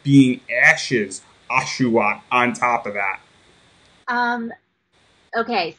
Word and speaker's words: Oshawott: little thing, and I'm going to get the name wrong. I already know it. I think it's an Oshawott. Oshawott, yes!